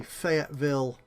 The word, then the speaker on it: Fayetteville: icons here we have a fayetteville that's how you pronounce it passenger station and we